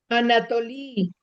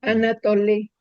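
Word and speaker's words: ἀνατολῇ: No, el acento Anatolí. Anatolí. Este Anatolí. La la eta hay que pronunciarla e no anatoé.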